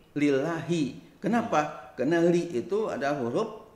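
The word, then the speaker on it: لِلَّهِ: Kan dibacanya enggak lillahu, enggak lillaha, tapi lillahi.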